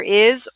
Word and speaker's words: hay: This is a silent H, yes, and we pronounce it I.